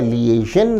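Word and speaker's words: liaison: लिजन विद्यार्थी ध्यान दें शब्द का उच्चारण है लिजन लिजन का अर्थ है कोऑपरेशन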